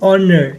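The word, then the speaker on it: honour: एच जो है आपका ये कंसोनेंट लेटर है। For example it a consonant but इट इज़ इट इज़ अनप्रोनाउंस्ड despite स्प्ले spelling the word ऑनर begins with a vowel sound.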